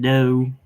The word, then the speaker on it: dough: You don't pronounce the G or the H, it's just dough.